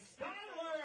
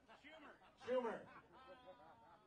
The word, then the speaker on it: Schuyler: Let's give a warm welcome to Molly Schuyler.